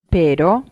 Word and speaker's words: pero: Try to roll the R sound at the beginning. Listen and repeat again to the Spanish word for but. Pero, pero, Now, let's try